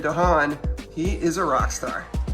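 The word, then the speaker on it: D'an: Figrin Dan, maybe more accurately pronounced Figrin Dahan, he is a rock star.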